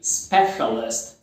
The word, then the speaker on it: specialist: Pronuncia certinho aí, specialist. Não é o som do C, specialist, é o chá, né? Special, specialist.